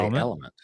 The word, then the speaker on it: LMNT: I want to say Element. It's Element. You say LMNT. No, it's Element. Okay, I'm going with Element.